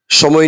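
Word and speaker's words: ث: উপরে নিচে দাঁত আছে উপরে দাতের দুইটা দাঁতের আগার সাথে লাগাবো সামনের দুইটা দাঁত তাহলেই হরফটি উচ্চারণ হয়ে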